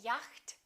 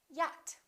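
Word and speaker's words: yacht: doubt another common mistake the silent ch we don't say yakt we say yat okay silent d adjust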